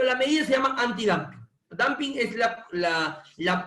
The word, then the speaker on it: dumping: el damping el damping Está bien lo que dice pero se escribe dumping ya se lee damping pero se escribe dumping ya que el damping